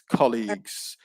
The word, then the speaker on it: colleagues: just one slip um so colleagues stress on the first syllable it's colleagues yeah but aside from that